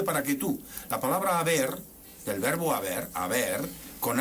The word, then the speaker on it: haber: a qué responde esto si la H no se pronuncia y la b y la v son exactamente en los contextos fonéticos son exactamente los mismos sonidos Entonces eso A qué